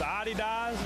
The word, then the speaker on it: Adidas: I think it's Adidas. Yes, you're right.